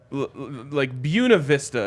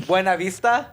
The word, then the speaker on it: Buena Vista: It could be like Buena Vista is one of the most offensive names for a city that exists. You mean Buena Vista?